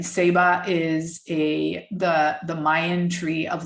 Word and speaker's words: Ceiba: Seba is the Mayan tree of life, and it's spelt CEIBA.